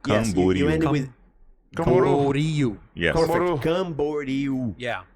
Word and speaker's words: Camboriú: Blumenau, Cumbaru. Mm-hmm. I've never been, Camboriú. but that's so Camboriú. Cumbaru. Camboriú. Four syllables.